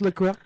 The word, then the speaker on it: LaCroix: I was saying LaCroix all week, but it's LaCroix.